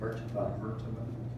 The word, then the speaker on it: MRTMA: Mertaba.